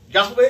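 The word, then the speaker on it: Jehovah: याहवे जो लफ्ज है, यहोवा लफ्ज जो है या याहवे, ये दो मुमकिन प्रोनाउंसिएशंस जो है ये इसके तलफ़्फ़ुज़ है।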